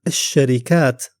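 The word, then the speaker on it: الشركة: While in the word alsharikah, the lam is silent. And the first letter after it, shin, is doubled.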